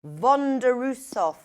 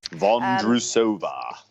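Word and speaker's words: Vondroušová: Vondrousova. That's how you say it. Vondrousova.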